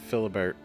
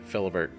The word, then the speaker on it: Philibert: out the whole fate of Maximus, and how Philibert, which I now know that's how his name is pronounced, at least one of the knights said his name, Philibert.